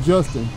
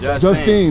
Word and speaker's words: Justine: So we on Justin. We on Justin. Justine. That's how you say it.